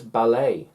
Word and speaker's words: ballet: have a look so it's ballet the t and head a head head h e d head no he add he add head a ah ah is silence and crumb crumb not crumb crumb it's crumb crumb when you're eating and things falling down chrome chrome chrome silent b silent a silent t b silent letters ballet head crumb how cool is that